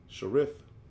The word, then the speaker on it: Cherith: eastward, and hide thyself by the brook of Sharit. Let me get that just to make sure I pronounce it correctly. Cherith.